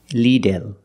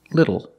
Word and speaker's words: little: do not say leel the word is pronounced little little the first vowel is a short I like this is Li Li not Le but Li little the second syllable is not L it's o o it's a short sound plus a dark l o o like when